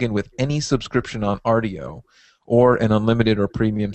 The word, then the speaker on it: Rdio: Rdio, yeah.